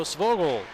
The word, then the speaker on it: Svajgl: Number 5, Skylar Svogel 2 minutes for tripping at 14:22 of the first period. A 2-minute minor for tripping. So Svogel is how he pronounces his last name.